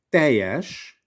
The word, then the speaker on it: teljes: So we spell it with LJ, in Hungarian LE. Teljes, we don't, well, some people might want to say, pronounce the word teljes. It's okay. People will understand you and they will just smile, but they will understand you completely.